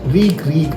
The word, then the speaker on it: Reek: Reek. It rhymes with peak. It rhymes with sneak.